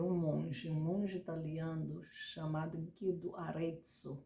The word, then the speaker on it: Arezzo: Bom, é fato que as notas musicais foram criadas por um monge italiano chamado Guido Arezzo. Pode ser que eu esteja pronunciando errado, mas é Arrazzo, né, Guido Arezzo.